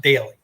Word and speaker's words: Doelle: find on the internet d o e l l e which is pronounced daily right all right Perfect all